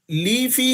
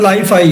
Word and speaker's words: LiFi: लीफी है या लाइफी, आप इसे क्या प्रोनाउंसिएट करते हैं जी? LIFI, सर लाइफाई है, that is a latest technology of वाईफाई।